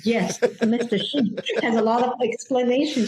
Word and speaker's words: Xu: So it's actually Shi. And people say, what does your dad do? Because it's a Mr. Shi, right? I said, yes, Mr. Shi has a lot of explanation to do.